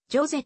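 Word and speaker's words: José: は役名行成をスペイン語読みでホセとかけ表すが実際はフランス語読みでジョゼと発音て歌われる音楽も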